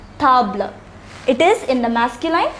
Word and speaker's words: table: It is spelled the same as table in English, but it is pronounced table.